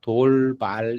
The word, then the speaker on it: 돌발: 투파를 갖다가 돌발 이렇게 발음해요.